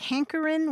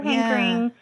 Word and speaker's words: hankerin': And did he pronounce it like hankerin' without the final G? Yes, always drop the G. Never hankering, never anything.